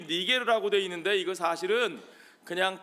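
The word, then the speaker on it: Niger: 니게르라 하는 시므온, 이 니게르라고 되어 있는데 이거 사실은 그냥 까놓고 얘기하면 미국에서 발음하기 좀 불편한 단어입니다. 요거 여러분 어디 가서 쉽게 함부로 사용하시면 안 돼요. 이게 무슨 뜻이냐? 니게르, 영어로 나이저라고 발음하는데 오늘날 현대 영어에서 나이저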